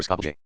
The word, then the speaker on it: Skopje: if it is spelled Skopje. The O is short, and all the letters after it are combined into a single sound.